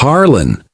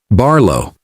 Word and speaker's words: Barlo: Your name's Harlon." "Nope. Barlo." "Well, I knew there were two syllables anyway.